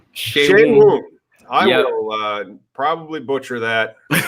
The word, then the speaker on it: Seun: Is it pronounced Sean? No, it's pronounced Shea Woon. Shea Woon.